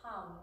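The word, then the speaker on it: ham: mantra for both throats so it's hum if you were the seed spell that would be spelled like an H a.m.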